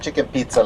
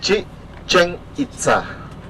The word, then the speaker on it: Chichen Itza: not chicken pizza like Americans say. It's Chichen Itza. 3 words together.